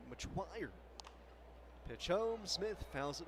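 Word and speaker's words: Metoyer: Getting Brian Metour loose out in the bullpen. Or as I should say in the pronunciation guide, Machuire.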